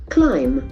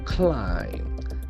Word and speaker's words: climb: eat food prices climb climb has got a very important pronunciation as we know in mb combination normally the letter B can be silent climb climb as places climb so